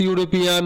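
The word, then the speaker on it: European: ইউরোপিয়ানে ইউ এর উচ্চারণ ইউ হলে তার আগে কি বসে?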